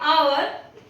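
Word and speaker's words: hour: Again in आवर, यहां पे भी एच ओ के पहले है, इससे साइलेंट हो जाएगा।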